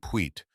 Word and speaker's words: Puet: The store at the crossroads was run by a man named Puet, pronounced with the accent on the second syllable in the way of